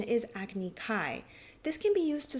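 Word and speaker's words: Agni Kai: If this were a Japanese manga panel, they may choose to write fire duel in kanji, but show that the pronunciation is agny kai.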